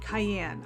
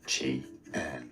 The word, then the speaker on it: Qian: Qian, Cayenne. I'm not exactly sure how I pronounce that. Um Cayenne? Let's break down the pronunciation from China, Mandarin. Qian Q Q is Q is J sound here. Qian.